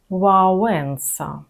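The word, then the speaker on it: Wałęsa: Губив трубочку в Запам'ятайте, ця буква не має відношення до звука л, принаймні в сучасній польській мові. Вимовляємо її в вонка, лагоднощ, мілощ. І пана Лехаю сьогодні вже пригадували. Олег Валенса. Вауса.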